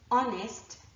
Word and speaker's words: honest: So the list that I showed you before, honor, our, honest, and air, are actually the 4 words that I can think of and their derivatives where there's an H but it is not pronounced.